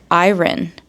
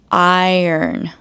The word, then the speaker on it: iron: I think a lot of nonnative English speakers would normally pronounce that word as iron, but it's iron.